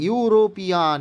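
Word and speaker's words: European: করলেই কাটা হয়ে যাবে, কারণ এখানে সাউন্ড কি আসছে, ইউরোপিয়ান, ইউ ফার্স্ট সাউন্ড আসছে কি না বলো, তাই না?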